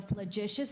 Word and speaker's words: flagitious: The definition of your word flagitious is villainous, and in a sentence is people were appalled by the flagitious actions of some politicians.